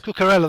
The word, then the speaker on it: Cucurella: I really do want to make sure we got Cucurella Yeah. Is that how you pronounce his name? Cucurella, I think. Cucurella. That sounds much better.